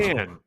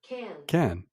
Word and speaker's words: Cannes: Con, how do you say con? When you look it up in Google, it says K-A-N. Sounds like K-A-N. K-A-N. Can?